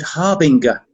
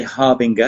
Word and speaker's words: harbinger: very common word but she said harbinger and i said you cannot say harbinger it's harbin i think i thought